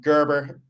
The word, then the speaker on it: Gerber: Um Gerber is how is how we pronounce it, how I pronounce it.